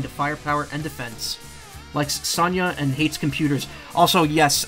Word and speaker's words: Sonja: What, you don't pronounce the J. I was like, it's not Sonja, right? Like, that's how I've always said it, but it's not right. It isn't. And it isn't. It's Sonya.